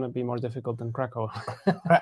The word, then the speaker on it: Kraków: I mean, if you say it in Polish, it's Krakow.